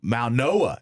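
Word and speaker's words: Mauigoa: I think M um Mal Noah is how his name is pronounced.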